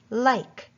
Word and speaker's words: like: Or maybe you notice that like has the long I sound with the silent E at the end, L-I-K, like.